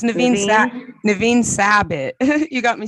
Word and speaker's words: Nevin Sabet: Next on my list is Nevin Sabet. Did I pronounce that correctly? Hi, it's Naveen Sabat. It's Naveen Sabit.